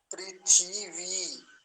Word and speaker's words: पृथिवी: दीर्घ इ का है पृथिवी और व और लगा दिया तो क्या बना पृथिवी व पृथ्वी व ऐसा बोलेंगे पृथ्वी नहीं कहेंगे पृथ्वी उच्चारण गलत है क्योंकि ये सबसे पहले